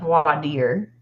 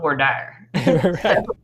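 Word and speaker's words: voir dire: interesting um I believe the French call it Vader but in Texas we call it V dire it depends on where you are how you pronounce it uh so it is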